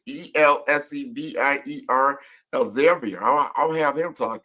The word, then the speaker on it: Elsevier: roles at Xerox, Dow Jones, I can't even pronounce this word. It's Elsevier, Elsevier.